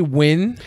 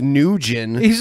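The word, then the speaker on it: Nguyen: that's how it's pronounced new Jin where are you doing over here ng uy I mean like even if you sounded out the way an english-speaking person would it doesn't say new Jin and a guy in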